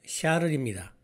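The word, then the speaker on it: Charles: 참고로 엠마의 영어식 발음은 에마이고 찰스를 프랑스어 방식으로 발음하면 샤를입니다.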